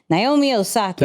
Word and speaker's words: Naomi Osaka: Naomi Osaka.